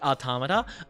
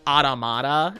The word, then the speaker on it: Automata: I like Automa. Well, a lot of people pronounce Automa like automata, and I don't agree with that in the slightest cuz Automa is like autonomous.